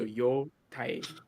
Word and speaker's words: Yotei: I mean, cares, you know, normal like hiragana, it's two syllables, like two letters. So yo tai.